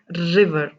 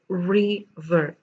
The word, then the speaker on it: river: river now over here when you say river observe the pronunciation re re round your lips and then say re ver it's not river it is re ver again you can see